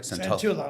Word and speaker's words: Santullo: So Cosmo Santullo. Did I pronounce that right? Santullo.